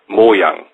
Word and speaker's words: Mojang: The right pronunciation of Mojang, like you say it, is Mojang. So it's a short M-O, and a yang, like in yin and yang. Mojang, without an A, or an L.